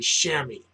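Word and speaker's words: chamois: worker not those shamas the proper pronunciation of the word Shamy sham anyway we're using tin oxide on shammy buff for our final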